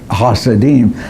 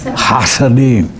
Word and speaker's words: Hasidim: And now, in most Jews, except the Hasidim, I can't get far enough down in my throat to pronounce it. Hasidim. You're supposed to make your uvula vibrate, and mine just won't vibrate.